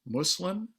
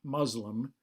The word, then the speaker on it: Muslim: me for that but the pronunciation is muslim not muslim that's really a kind of fabric in our american english